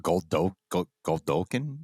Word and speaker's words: Godolkin: Goldolkin? How do you pronounce it? Godolkin.